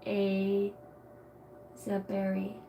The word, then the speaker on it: Asberry: SB r y Fortress is what it means Asberry is pronounced a zberry the old English origin and it is used